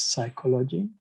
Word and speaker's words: psychology: So based on this, English would not pronounce the P. The P is silent in English, which is psychology.